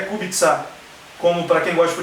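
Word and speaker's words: Kubica: Então é por isso que o nome é kubitsá.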